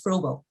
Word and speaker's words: Froebel: comes from um frogle as i'm told it's pronounced i've been saying freddle for years apparently it's frogo okay so anyways comes from froebel and you